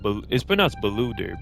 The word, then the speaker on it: Beluder: It's pronounced Beluder, but I'm gonna say Boulder.